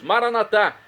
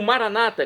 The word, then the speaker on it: Maranatá: E agora eu clamo do aramaico, dialeto de Jesus, Maranatá, como dizemos nóss católicos com a tônica na última sílaba, ou maranata, como dizem nossos irmãos separados das comunidades evangélicas ou protestantes.